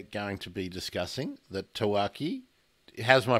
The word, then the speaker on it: tawaki: penguin that we're going to be discussing the tawaki how's my pronunciation sawaki is perfect yeah so um